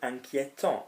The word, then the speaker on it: inquiétant: It's worrying, inquiétant would be the same pronunciation, A-N-T.